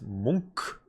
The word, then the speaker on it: Munch: Fun fact, apparently it's pronounced Munch.